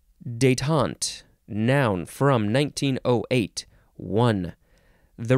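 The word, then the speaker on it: détente: deal with this nonsense this word is daytont emphasis on the second syllable it is spelled d-e-t-e-n-t-e and you can put an accent on the very first e that goes Boop or no accent that's fine too detaunt noun from 1908 one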